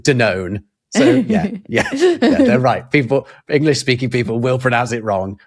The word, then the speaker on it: Danone: Well, they're correct in so far as in Britain it is spelled the same as it is in France. And we pronounce it denown.